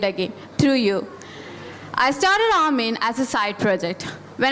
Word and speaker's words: A(wo)men: Now, you might be wondering why I'm pronouncing it as Armin and not a woman or a woman.